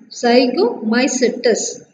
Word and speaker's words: Zygomycetes: How to pronounce that? Zygomycetes. Zygomycetes.